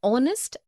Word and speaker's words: honest: also an air an honest an hour because the words air honest an hour begin with a vowel sound as the initial consonant H is not pronounced article one we use